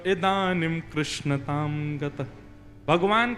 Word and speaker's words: कृष्ण: लाल की जय बंधुओं कई लोग इस नाम को अशुद्ध बोलते हैं कई लोग कृष्ण बोलते हैं कई लोग कृष्ण बोलते हैं कोई कृष्णा बोलता है भगवान का नाम शुद्ध उच्चारण करो नाम क्या है कृष्ण भगवान जय श्री